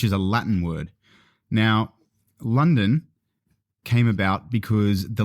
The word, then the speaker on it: London: a Latin word now London came about because the local Britain when they were trying to pronounce London in their accent started to say lundan wow lundan lundan and then that became London today's London today's London